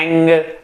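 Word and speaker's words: ऐं: specially जब कभी भी आप कोई भी भगवती की तांत्रिक दीक्षा लेते हैं तो एंग का उच्चारण होता है, एंग ह्रिंग क्लिंग, ताकि आप जो कोई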